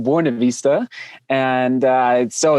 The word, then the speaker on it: Buena Vista: town in the mountains called we call it buena vista but it's properly uh pronounced buena vista and uh so it's 8 000 feet above